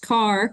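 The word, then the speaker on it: Kerr: Carolina John H Carr pronounced like you drive a car but the lake project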